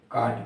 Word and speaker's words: caught: जैसे लिखा है CAUGHT, तो इसको हम काट पढ़ते हैं।